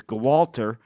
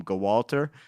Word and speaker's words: Gwalter: His name was Gwalter. His name was actually Walter, but there was a silent G in front of it.